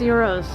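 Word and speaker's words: gyros: It is pronounced euros here.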